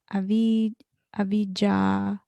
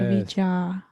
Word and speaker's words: avijja: um, yeah, so avijja, avijja. Avijja. Yeah, Vija is conscious, fully conscious. Avija, Avija. That is absolutely unconscious.